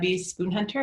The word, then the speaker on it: Spoonhunter: greg for the introduction my name is spoon hunter it's pronounced without the tea thank you very much